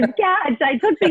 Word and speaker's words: Qatch: first, but it is Qatch. Okay. Yeah, you're a lot of people try to throw the U in there. Is it Qatch? Is it? No, it's Qatch.